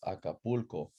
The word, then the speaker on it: Acapulco: Acapulco has four syllables, and you're gonna stress the second to the last one, right? Acapulco. It's not Acapulco or Acapulco. It's Acapulco.